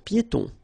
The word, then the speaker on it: piétons: Un passage pour piétons. Un passage pour piétons. Final S here, not pronounced, and then final E, not pronounced.